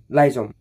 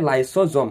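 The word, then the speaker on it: lysosome: কোন কুখাঙ্গানুক আত্মঘাতী মুনাবলী কয় হয় উত্তর হয়েছে লাইজোম সরি লাইসোম হয় লাইসোজোম ওকে ভুল হয়ে গেছে লাইসোজোম হ্যাঁ লাইজোম হয়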